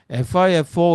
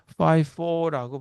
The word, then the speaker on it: FIFO: 그래서 그냥 우리는 FIFO 이렇게 부르고 싶지만 이거를 또 발음 정식으로 써서 FIFO라고 발음해요. 물론 뭐 FIFO라고 발음해도 뭐 다 알아듣긴 해요. 근데 이뭐 영어권 사람들은 이 I를 이상하게 I라고 발음하는 걸 더 좋아하더라고요. E로 발음하는.